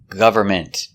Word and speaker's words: government: We see with government we have the O-V-E making the sound. Government. The N is silent. Don't pronounce the N. Government. Government. The T is a stop T. Government. You don't really hear it.